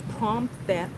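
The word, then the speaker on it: Phromthep: It's Promthep Cape, which is this area.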